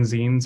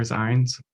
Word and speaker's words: zines: And so one of the beautiful things that we're doing is creating zines or zines. I don't say it right always, so I say both.